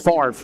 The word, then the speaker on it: Favre: That is Rob Favre. Rob Favre.